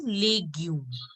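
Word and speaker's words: légume: Wherever in E, the accent is on the right hand side. So it will be pronounced as A. So it will be legume.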